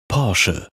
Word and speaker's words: Porsche: time they decided to show us how to pronounce their name correctly pora perhaps the most important thing Porche ever did